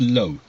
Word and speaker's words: Loe: Because I checked Yes, out the tracks on the album, and yes, is that pronounced Low? Loe. yes. Low, Low, right?